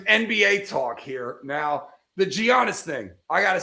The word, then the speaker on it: Giannis: Let's just talk about Giannis. Yeah, let's talk about not Giannis. Okay. All right. So, silent silent G like lasagna.